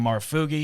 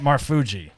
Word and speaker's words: Marfuggi: We have comedian Jaclyn Marfuggi here, and Rob DeRocha is here as well as always.